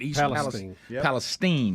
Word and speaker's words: East Palestine: That's how you say it. East Palestine, not Palestine, East Palestine.